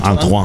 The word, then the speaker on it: Antoine: No, Antoine. Como Griezmann, pues.